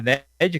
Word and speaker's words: Ned: É Ned que se pronuncia, fez com a mãozinha assim, o Doutor Estranho ficou, sei lá, anos treinando, né, para conseguir abrir aquele portal, né?